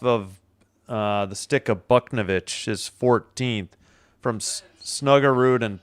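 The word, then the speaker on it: Buchnevich: B Navic.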